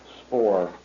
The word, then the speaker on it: Spaur: your full name my name is Spore how do you spell that last name s-p-a-u-r sir all right go